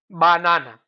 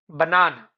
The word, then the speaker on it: banana: Listen to this. Banana. Not banana. It's banana.